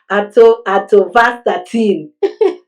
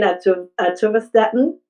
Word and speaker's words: atorvastatin: I was like, atorvastatin. So my patient was like, you mean atorvastatin? I'm like, oh, okay, atorvastatin.